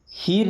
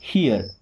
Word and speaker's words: hear: अब देखिए HEAR, इसे हीर नहीं पढ़ेंगे। जैसे अगर लिखा होता है HEAL, तो इसे हम पढ़ते हील। क्या पढ़ते? हील। बट यहाँ जब आर आता है ना, तो इनका प्रोनाउंसिएशन चेंज हो जाता है। क्या पढ़ते हैं? हियर।